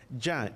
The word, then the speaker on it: Yah: El nombre corto o la forma corta de pronunciar el nombre de Yahweh es Yah.